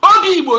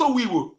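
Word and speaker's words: Obigbo: Obi Igbo, not Owi Igbo.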